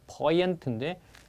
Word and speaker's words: poignant: 그런데 거기 poignant 발음을 주의하세요. 발음이 poignant로 잘 발음하지 않고요. poignant인데 스펠링을 잘 보셔야 돼요. poignant 발음하면은 이를 스펠링이 잘 안 나와요.